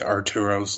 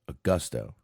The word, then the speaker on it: Augusto: Yeah, his name was not Arturo. I believe it was Augusto.